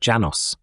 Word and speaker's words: Lanos: The name of this master is Lanos, pronounced Janos.